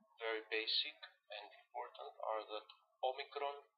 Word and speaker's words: Omicron: basic and important ordered Omicron and Omega are pronounced exactly the same in Reverse all so